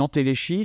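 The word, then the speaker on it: entéléchie: y a pas d'antéléchie moi je prononce à la française une antéléchie c'est un un acte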